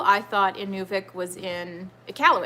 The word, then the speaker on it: Iqaluit: So when I first read about the Sunrise Festival, I thought Inuvik was in Iqaluit. Is that how you pronounce it? Iqaluit? Yes.